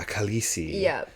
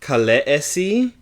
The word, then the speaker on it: Khaleesi: It's like, actually, the way that I set it up, it would be pronounced Khaleesi, but I know that everyone who's read the books has read it Khaleesi.